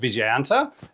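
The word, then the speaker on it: Vijayanta: Uh the name the Vicas MBT or Viganta, which I looked up and is pronounced Viganta and but I'm sure I'll still get it wrong.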